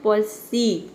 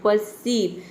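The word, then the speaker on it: perceive: प में और लगाना है, आप ये समझे कि प में आपको और जोड़ देना है, परसीव। ठीक है, और बीच में बोलना है परसीव, तो आपका प्रोनाउंसिएशन सही होगा।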